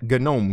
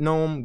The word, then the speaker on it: GNOME: So if you want to pronounce it GNOME, go ahead. But don't call me an idiot for pronouncing it GNOME when that's originally what they wanted it to be pronounced.